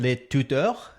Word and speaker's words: Le Tutour: My name is Dan, and today we have Gwen le Tutour. Is that pronounced properly?